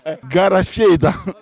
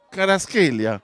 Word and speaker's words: Kvaratskhelia: Io non voglio immaginare lei come pronuncia Kvaratskhelia. Garasceta. No. Il numero 77 del Napoli. Entra in campo Kvicha. Garasceta, no. Kvaratskhelia.